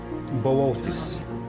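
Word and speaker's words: Boötes: Bootes, a slow-working star in North Pole near to Charles Wain.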